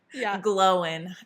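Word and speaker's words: Glóin: book and I was like oh it's Owen Glowin.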